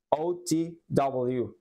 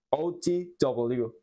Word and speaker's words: OTW: way on the way pero se pronuncia otw otw ot muy bien donde acá tenemos la presencia de otra negrita y nos indica de que tenemos que incrementar nuestra entonación Así que es otw